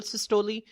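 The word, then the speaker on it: systole: एक को हम नाम देते हैं आर्ट्रियल सिस्टोली। एक को हम नाम देते हैं वेंट्रिकुलर सिस्टोली। अब बच्चों ज़हन में रखें कि कुछ लोग जो है उसको डायस्टोल पढ़ते हैं और सिस्टोल पढ़ते हैं।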